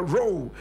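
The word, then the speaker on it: Rowe: Gold Coast was called Samuel role said Samuel row row is spelled r-o-w-e my brother my sister unfortunately the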